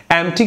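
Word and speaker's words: empty: एम्प्टी की spelling एम्प्टी जाती है, पी साइलेंट जाता है, खाली कोई चीज।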